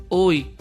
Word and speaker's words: hoy: en esta otra palabra, hoy. Recuerda lo que hablamos de la Y, que se pronuncia aquí como vocal, por tanto forma un diptongo.